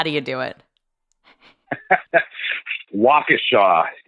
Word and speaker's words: Waukesha: Waukesha is the correct pronunciation.